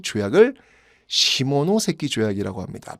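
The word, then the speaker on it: 下関: 조약이 있는데 그 조약을 시모노세키 조약이라고 합니다 발음 조심하세요 발음 조심하세요 시모노세키 시모노세키 조약이에요 자이 내용을 보면요 어떤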